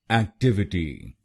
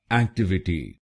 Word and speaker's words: Activity: और ये ध्यान रखिए कि हमको दूसरे शब्दांश पर यानी TIV पर जोर डालना है। एक्टिविटी, एक्टिविटी। गलत प्रोनाउंसिएशन में हम पहले शब्दांश पर यानी AC पर जोर डालते हैं, एक्टिविटी।